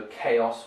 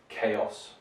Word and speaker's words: chaos: CH, but pronounced as a K sound, so chaos, whereas in Russian, chaos, it's a Ch kind of sound.